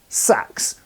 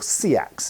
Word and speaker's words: seax: First of all, the historical sax, or seax as some people pronounce it.